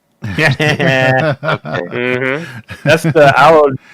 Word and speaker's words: Aodhan: It's a 3-syllable name, so it's Aodhan.